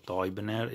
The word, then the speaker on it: Teubner: E l'illustratore, che è Ulrick Fisher, si pronuncia sempre più o meno Toyibner o Fisker, ma comunque ti lascio i commenti se vuoi correggermi.